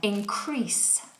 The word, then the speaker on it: increase: of being tied um increase increas crease and that's an S sound at the end some people make that mistake of making that a zed sound um how do you